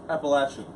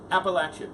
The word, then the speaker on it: Appalachian: website that's the big activity and remember it's pronounced Appalachian Appalachian my god all right here we go also